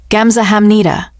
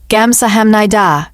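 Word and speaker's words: 감사합니다: Gamsahamnida. Min-jun supplied. Gamsahamnida.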